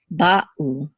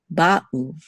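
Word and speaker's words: באו: So same thing with Hebrew here. We say ba'u, ba'u.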